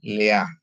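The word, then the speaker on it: לֵאָה: Lamet dikasih sere. Dia jadi bacanya le. Ada alef yang silent dikasih dengan nikut kamats dia jadi a ya. Jadi bacanya jadi le a. Jadi bacanya Leah.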